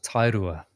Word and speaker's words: Tairua: I live in a small Beach town called tairua yeah there you go a couple of hours